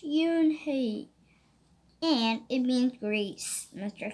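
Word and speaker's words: Unhei: to Joey not just a lot yes it's pronounced Yoon hae and it means grease mr.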